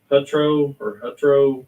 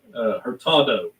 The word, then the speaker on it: Hurtado: I think it was called Hutro. I think that's how you pronounce it. Hurtado. I went to check it out, make sure I read it right. Hurtado, Chile.